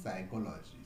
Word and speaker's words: psychology: For example, P, the letter P in psychology does not get pronounced. It is psychology. So P does not get pronounced, and that's why it is a silent letter, silent P.